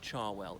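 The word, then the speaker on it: Cherwell: char well it's spelt sure well but it's pronounced char well it flows into the River Thames so if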